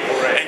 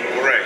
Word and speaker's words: Foree: Foray. And you pronounce Foray? Foray. Accent on the second syllable?